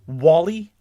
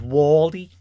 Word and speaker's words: Whalley: Last name spelled Whalley. Pretty standard Wally, I would say. but he's got a very thick Scouse accent. So he calls himself Wally.